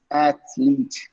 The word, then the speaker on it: athlete: okay naive next okay it's athlete at least okay that's the way how you say that word okay but athletics were